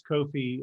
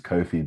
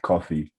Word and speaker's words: Kofi: And it was, like you said, my name's Kofi, but back then everyone used to pronounce it like coffee, like the drink.